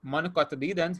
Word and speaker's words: monocotyledons: Those are the monocots, or monocotyledons, which would be the correct pronunciation for it, and dicotyledons.